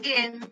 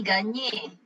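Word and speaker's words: Gagné: Cara bacanya bukan gen, tapi ganye. Ganye.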